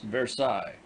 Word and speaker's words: Versailles: miles by rail on the road to versailles pronounced versailles song clue belongs to the canton of sevres